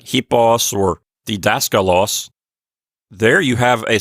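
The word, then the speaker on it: δάσκαλος: this down a moment for dascal Los the accent is two syllables from the end on the syllable that we call the anti penal right right daskalos and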